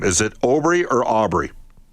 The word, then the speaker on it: Aubry: Uh give me the proper pronunciation on your last name. Is it Aubry or Aubrey? Yeah, it's uh it's Aubrey, but again, certainly don't have a problem with obliques.